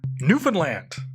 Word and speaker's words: Newfoundland: That's pronounced Newfoundland, as in new F''N land.